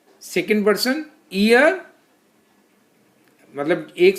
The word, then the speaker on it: ihr: Second person year, मतलब एक से ज्यादा लोग हैं तो ईयर।